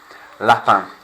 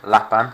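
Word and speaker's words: lapin: in an old shape lapan rabbit a rabbit leaps yeah lap band sounds like leaping or of course if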